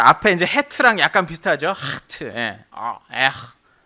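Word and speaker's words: חית: 이걸 뭐라고 읽냐면 하트라고 읽어요. 하트. 우리말의 히읗과 비슷한데 정확히 히읗은 아니고 하를 발음입니다. 목구멍을 긁는 소리를 내야 돼. 이 공기가 입 천장, 목구멍과 입 천장 쪽을 긁으면서 나와야 되는 소리입니다.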